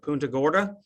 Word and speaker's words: Punta Gorda: Ian uh the community of and I'll probably mispronounce it Punta Gorda they actually survived their housing survived pretty much